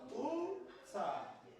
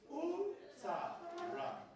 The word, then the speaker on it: utara: Take it by syllable. Number 2 syllable. Beautiful. So let's pronounce how many syllables do we have here? 1, 2, 3. Let's pronounce it together. Utara. Again. Utara.